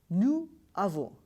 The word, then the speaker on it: nous avons: Here you must have checked we are pronouncing nous avons rather nous avons because it has got one liaison.